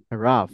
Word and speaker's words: rough: I have to A tolerate lot a lot of rough, I have এটার উচ্চারণ হবে হচ্ছে রাফ।